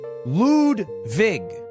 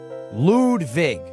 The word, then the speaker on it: Ludwig: My name is Lwig, but it's pronounced Ludvig. Lude Vig.